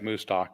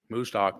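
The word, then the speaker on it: Mostaque: uh Musto who predicts I keep pausing because it it doesn't look like Musto but that's how you say it I remember a cow's you know in a Stockyard that's that's what helps me Musto moo anyway Imad Musto uh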